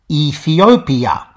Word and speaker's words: Ethiopia: shift ethyopia became ethiopia you may notice that ethiopia isn't pronounced like that anymore though simmer vowels are now gone and the pronunciation is back to five syllables ethiopia that was a change